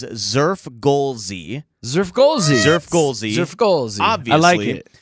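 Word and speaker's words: Xfrgolszy: The pronunciation I guess is Zurf Golie.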